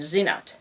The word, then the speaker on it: Senet: from Old Kingdom grammar the original pronunciation of it may have been Zenit apparently in the old kingdom s has had kind of a hard harder Z sound to them but sooo not the